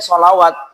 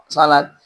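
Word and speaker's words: صلاة: Makanya di beberapa kaum muslimin, kalau tidak terbiasa menggunakan mushaf Madinah, bacanya sholawat. Padahal sholat.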